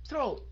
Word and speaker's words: throat: thôi, đọc rồi thụt lưỡi vô nhanh, ok, throat, ok, có âm R nữa nha, throat, throat, throat, throat.